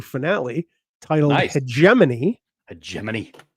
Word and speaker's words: Hegemony: Hegemany, in case you weren't sure how to pronounce that word, Dan. Um, it's not hegimony.